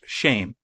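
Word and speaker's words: שם: Hebrew word for name, which is shem, pronounced shame.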